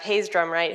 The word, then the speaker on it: Hayes Drumwright: to share moving down the line we have Hayes Drumright who's the CEO of pop in is that how you pronounce the name in the company excellent that's